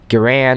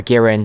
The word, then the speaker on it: Garand: a Springfield maybe the m1 garand or garand depending on what pronounce it but basically they were